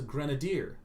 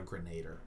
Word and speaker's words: grenadier: zealot not a z-lot it's a grenadier not a grenader okay mispronunciations from childhood